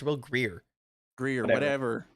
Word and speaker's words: Grier: Did you guys say Will Grier? It's Will Greer.